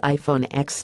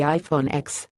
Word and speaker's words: iPhone X: phone was called the iPhone X he immediately started second-guessing himself but eventually settled on his original pronunciation the next shopper knew it was supposed to be pronounced as the number 10 but said using X